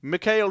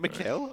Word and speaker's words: Michael: Wait, is it Mikhail? I always thought it was I'm from England, so we always called him yeah, Michael in Schumacher. German the pronunciation is Michael, but in English Yeah. Call him Michael.